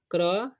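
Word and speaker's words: crow: तो क्रो पढ़ेंगे ठीक ओ डब्लू जब भी आए तो ओ का डब्लू का उचार साइलेंस हो जाता है ठीक तो क्रो ओके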